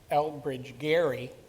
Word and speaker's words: Elbridge Gerry: So Elbridge Gerry Well pronounced, sir.